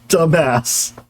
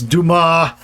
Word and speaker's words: Dumas: Looking back on it, that probably was bad, But yeah, it is not pronounced dumbass. That's a great example. I love that one. Yes, Dumas, not dumbass.